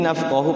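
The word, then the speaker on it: نَفْقَهُ: Ini nafqahu pendek juga, manafqahu kasi, bukan mad sila qasira ya.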